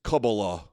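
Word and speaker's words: Kabbalah: Um, and I've been accused many times of being in Cabala. I don't know how to pronounce it. I'm an Episcopalian to It's Kabala.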